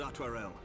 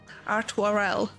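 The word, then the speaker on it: Artoirel: Your assistance is most welcome, Lord Atwarel. To arms, then, I have friends. been saying his Time is name wrong against this us. whole fucking time. Artwarel.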